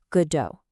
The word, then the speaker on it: Godot: it pronounced Godot, with the emphasis right on that first syllable. And that immediately makes you think they're waiting for, well, God, right? But Samuel Beckett, who wrote the play in French first, he pronounced it Godot, stressing the end.